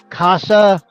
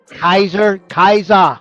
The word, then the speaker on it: Kaiser: I did miss I know Casa, and did I say it right? Nope. Kaiser.